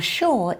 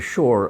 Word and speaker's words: shore: I think we say the word shore a little differently in American and British English. Shore, Shore. shore. I pronounce the R more strongly.